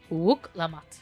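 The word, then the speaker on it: Wuk Lamat: Wook Lamat. Yep. That's how you say it. I pronounced it at least as good as I can.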